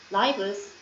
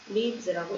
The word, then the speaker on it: lives: easier 나사 덕분에 우리의 자 이거 lees라고 읽으면 안 되겠죠 자 명사 생명 삼 생활 이렇게 쓸 수 있는 명사인데 얘 복수형은 f로 끝났기 때문에 위로 바꾸고 2에 붙여줘서 lives라고 읽어야겠죠. Our lives are 우리의 생활들이 좀 더 어떻게 됐어?